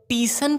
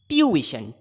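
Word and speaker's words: tuition: इसको बहुत लोग ट्यूशन पढ़ते हैं जो कि गलत है, बहुत लोग ट्यूशन पढ़ते हैं जो कि बिल्कुल ही गलत है। ये ट्यूशन है, ट्यूशन। बोलिए ट्यूइशन, ट्यूइशन, ट्यूइशन।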